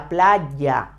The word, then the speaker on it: playa: Playa I told you the pronunciation of the Y in a previous lesson remember that is very similar to when you say yesterday but much with more Force La Playa yeah la playa we